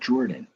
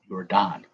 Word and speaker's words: Jordan: talk trades air jordan so it's pronounced like jordan not your don you're jordan or you're